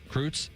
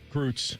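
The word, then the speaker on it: Kreutz: How do you pronounce it? Crroos. Kroos.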